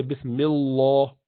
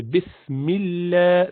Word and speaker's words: bismillah: you pronounce it simple so you do not say bismillah law you just say bismillah bismillah here or or